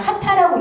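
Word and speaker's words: 波旦: 근데 이 파단을 일본말로 어떻게 읽냐면 하타라고 읽습니다. 하타. 발음이 같아요.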